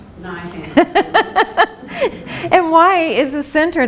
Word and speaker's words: Neuhaus: It's German, and there are 2 branches of the family who pronounce it differently, but we got lucky and got the Neuhaus branch, Neuhaus pronunciation.